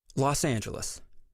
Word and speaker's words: Los Angeles: came to a verdict the official pronunciation would be Los Angeles the mayor announced a